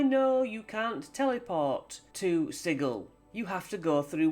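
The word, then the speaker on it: Sigil: how it looks to read but it is pronounced sigle fact and that's the end of it and I know you can't teleport to sigle you have to go through one of the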